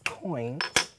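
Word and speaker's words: quoins: unlocking these which are known as coins spelled with a q and these just expand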